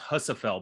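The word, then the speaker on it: Husafell: red it's it's called I think it's pronounced hussafel bag at the CrossFit games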